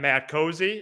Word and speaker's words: Matt Cosey: olber i'm matt cosey even though three locked on host have mispronounced my name i am matt cosey and this is locked